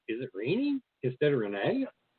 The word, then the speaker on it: René: conversation I wouldn't say actually my name is pronounced Renee but you know you